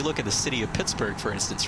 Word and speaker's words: Pittsburgh: to be pronounced like originally i think it was pronounced pittsburgh but uh for some reason over time uh you know uh unlike the way edinburgh has pronounced edinburgh uh in scotland right the pronunciation became berg uh which is kind